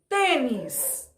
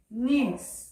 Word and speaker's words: tênis: júri a outra sep a palavra tênis de tênis é a penúltima sílaba é acentuado a penúltima sílaba é porque eu gosto forte então esse palavra é acentuada tênis todo tô na